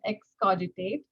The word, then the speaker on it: excogitate: related to it and it's called as x cogitate it's uh pronounced as x-coggitate and the meaning of